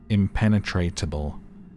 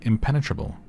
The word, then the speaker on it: impenetrable: came up, I read it as impenetrable, like with an extra T in there, impenetrable, because it's like penetrate, penetrated, impenetratable, but it's actually impenetrable.